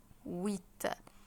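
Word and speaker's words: huit: اسمها تات سات طب رقم مانيه اسمه ويت ويت خليت اخدت بالكم ان الاش برضو مش منطوقه هنا ايه دي كده متحركه ان القش هنا حرف حرف فوايل فقلت عليه ايه قلت عليه ويت ويت جيجي للي بعده رقم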